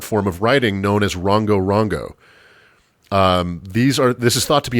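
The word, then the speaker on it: Rongorongo: If you're interested, you should look up these planks, just spelled like it sounds, Rongo Rongo.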